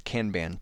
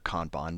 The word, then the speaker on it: Kanban: I organize my Trello it's a Kanban style board or Kanban depending on how you want to pronounce it but so trubbish not